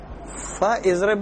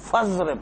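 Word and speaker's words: فاضرب: یا سما آ جائے تو ہم فا اضرب نہیں پڑھیں گے، فضرب پڑھیں گے. حمزہ وصل جو ہے تلفظ میں گر جاتا ہے.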